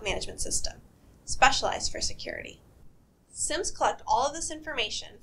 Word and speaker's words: SIEM: SIEM stands for Security Information and Event Management, and it's pronounced SIEM.